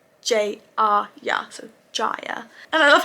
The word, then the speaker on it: Jaya: I wrote down that Jaya is pronounced Jaya, because originally I thought it was pronounced Jaya, but I wrote down it's J-A-Y-A, so Jaya.